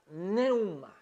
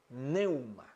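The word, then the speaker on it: πνεῦμα: Y dice que se pronuncia neuma, neuma.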